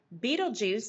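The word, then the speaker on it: Betelgeuse: going to compare volumes Beetle Juice and yes that's how it is pronounced I looked it up beetle juu is one of the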